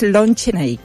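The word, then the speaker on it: Lon Chaney: su ídolo y inspiración que fuera que es Lon Chenik, pero lo pronunciado bien, ¿okay?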